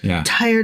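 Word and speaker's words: Tyre: fine just for the record it is tire tire tiresome tired of me pronouncing it wrong swing Tire wife is doing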